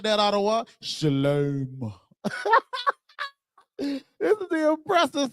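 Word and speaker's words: שלום: lie anymore because this, this Y right here turns into a O. And now you have shalom. That's why they say it like that. It even says that if you read what I just showed y'all, it says it has the long O sound.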